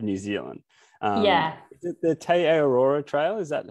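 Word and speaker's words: Te Araroa: Is it the Te Ararora Trail? Is that how you pronounce it? Yeah, Te Ararora.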